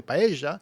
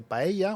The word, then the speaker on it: paella: parts of Latin America they'll say by Asia or they'll say paella or paella with an l so it's interesting how that's pronounced in different places um and then of